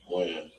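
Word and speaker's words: Wynn: Win. Win or Wen? Win. Win. W-E-N or W-I-N? W-Y-N-N. W-Y-N-N. Okay.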